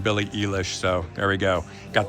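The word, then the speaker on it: Billie Eilish: right here we go I'm gonna say this one right Billy Elish apparently I've been saying it wrong Billy Elish so there we go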